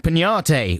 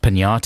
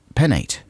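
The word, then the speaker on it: Peñate: And I believe it's pronounced Pignate, even though I don't see the squiggly worm on the top of the N here. Because otherwise it would be Penate, right?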